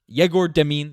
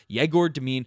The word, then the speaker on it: Egor Demin: Egor Demin, that's how you pronounce it, as according to a YouTube video before I started this.